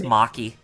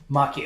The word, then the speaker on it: Maki: is a machi um I'm sure it's Maki Maki ok pretty good because she's Japanese because Japanese pilot asking